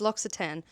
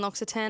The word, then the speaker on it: L'Occitane: I've now learned how to say it. It's L'Occitane.